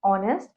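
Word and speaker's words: honest: हमने एनल लगाया है द एच इन ऑनेस्ट एंड आर is silent they are pronounce S ऑनेस्ट एंड are both of these are vocal sound इसमें H silent होता है ऑनेस्ट और आर में तो इसलिए हमें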